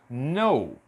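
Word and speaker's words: know: começam com KN e neste caso o k ele é mudo então eu não vou pronunciar o k nessa palavra pronuncia apenas no eu não vou pron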